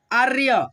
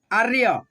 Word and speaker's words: आर्य: आर्य, देखो यहाँ पे रेफ की मात्रा है, आधा र, आर्य, तो य से पहले र का उच्चारण, आर्य।